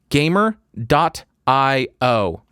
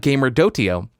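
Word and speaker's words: gamer.io: or iced tea thanks gamer dot i/o he provided a pronunciation thank you for that it's not gamer dhoti oh it's gamer dot IO appreciated gamer dot IO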